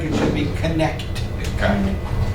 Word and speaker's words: Connecticut: Notice the word Connecticut. It's an eastern state. It has a T in there. It looks like it should be Connecticut.